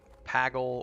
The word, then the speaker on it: Pagle: there was stuff on it we're on the pagle server dish pagle or pagle however you want to pronounce it p-a-g-l-e i'll type it in youtube